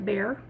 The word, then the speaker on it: Bexar: That's B-E-X-A-R, but it's pronounced like a bear.